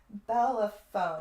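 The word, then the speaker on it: Bellerophon: Bellaphone.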